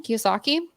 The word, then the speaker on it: Kiyosaki: key how do you say his last name Kiyosaki yeah and yeah and um Think and Grow